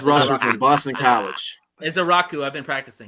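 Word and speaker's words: Ezeiruaku: I don't know how the pronounce his last name. It's Russ from Boston College. Is a Rocku. I've been practicing. Azaraku.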